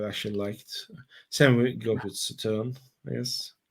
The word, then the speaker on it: Sauternes: Same goes with Sauterne, I guess. Did I pronounce it right? yeah. Sauterne. It was Oh, pretty good.